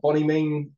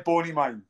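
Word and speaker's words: Bonymaen: Now, listen, you started boxing properly at the age of eight, excuse my pronunciation here, Bonnie Mean Boxing Club, is that correct? Yeah, Bony Mine. The Bonnie Mine, there we go.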